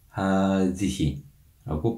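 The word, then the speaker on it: هذه: 이 지시 대명사를 발음할 때 유의해야 하는 점은 앞에 나오는 이 하자음을 길게 장음으로 발음해야 한다는 것입니다. 그래서 하다, 하디히라고 발음하시면 됩니다.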